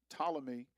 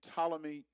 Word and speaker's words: Ptolemy: Ptolemy. I say Ptolemy, but I think the P is silent, but Ptolemy or Ptolemy.